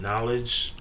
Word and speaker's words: Knxwledge: Like they'll like for example they'll put like there's a producer named Knowledge, but it's KNXWLEDGE. You know what I'm saying? But there's no O or knowledge.